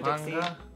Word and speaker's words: Topanga: Bless you, Topanga?